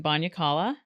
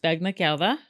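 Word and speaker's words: bagna càuda: And we would have, and what we're doing this Christmas is we are having Banyakala. Correct. Which is actually pronounced Bagnakala, but our family has warped it with its whiteness.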